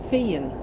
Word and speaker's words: Fyn: Funen or Feen, I'm not exactly sure. So I think it's actually pronounced Len and Fien, but I'm definitely struggling with the language.